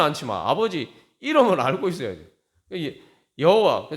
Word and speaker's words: 야훼: 여호와, 정확한 발음은 이제 야훼라고 이제 이야기하는데, 그게 이름의 의미가 무슨 의미입니까?